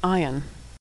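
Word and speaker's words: עין: the Hebrew alphabet is Ion ion is silent like Olive ion dips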